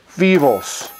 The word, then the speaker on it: Phoibos: And it is Phoibos, F-E-V-O-S apparently. Not my pronunciation, which will be Phoibos.